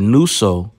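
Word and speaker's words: νύσσω: Strong's G, 3572, nuso. Nuso. Okay, well, it's nuso, which ironically sounds like the word noose.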